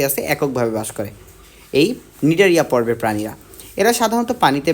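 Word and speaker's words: Cnidaria: কাটতে পারে তুমি অবশ্যই নিডারিয়া বানানটা শিখবা ঠিক আছে সি দিয়ে কিন্তু শুরু সি এন আই ডি এ আর আই এ নিডারিয়া এরপর আমরা নিডারিয়া পর্বের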